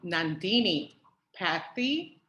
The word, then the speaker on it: Nandini Patty: for letting me know um nandini patty tell me did i say it correctly yes you did all right okay so